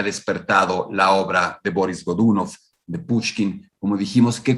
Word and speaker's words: Godunov: quien fue boris godunov boris godunov habría que pronunciarlo si lo quisiéramos decir estrictamente con la pronunciación rusa pero antes de hablar